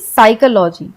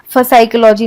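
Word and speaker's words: psychology: तो साइकोलॉजी को हम एस से पढ़ते हैं यानी साइकोलॉजी। लेकिन ये स्टार्ट होता है पी से। इसे हम प साइकोलॉजी या फसाइकोलॉजी नहीं पढ़ेंगे। हम इसे साइकोलॉजी पढ़ते हैं।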